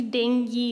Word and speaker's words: dengue: wrongly by many people it's actually dengue it's not bingo and then at school